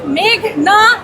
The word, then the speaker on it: মেঘনা: মেঘলা আলম আদালতে এসে শুনি পিপি বলছেন মেঘলা আলম আমার নাম মেঘনা আলম বাংলাদেশ একটা সুন্দর দেশ নদীমাতৃক দেশ আমাদের সংস্কৃতি আমাদের এনভায়রনমেন্টের সাথে মেঘনা না জড়িত অথচ এই নামটা তারা উচ্চারণ করতে পারছে না লিখতে পারছে না